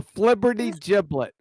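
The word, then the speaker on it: flibbertigibbet: have to say what filiberty filiberty giblet a flibberty giblet what the is that numpty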